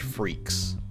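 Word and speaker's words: Freecss: German anyway also kind of fitting that it's pronounced freaks because that's what he and his dad are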